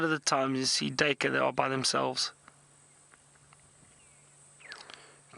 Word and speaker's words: duiker: name, and the name duiker, it's spelled D-U-I-K-E-R. Some people pronounce it duiker or duiker, and the duiker gets its name from a Dutch word or an Afrikaans word, and duiker means diver, and it's because of